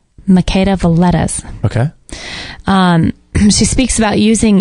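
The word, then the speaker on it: Makeda Voletta: t t a s so how do you say it make the lettuce okay she speaks about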